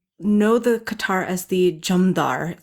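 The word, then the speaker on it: jamdhar: then some people know the qatar as the jamdar spelled j-a-m-d-h-a-r and that comes from persian it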